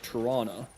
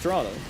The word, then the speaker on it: Toronto: It's uh it's a bit snowy out here in Y old Toronto. You can always tell who's actually from Toronto because we don't necessarily we don't pronounce the T's.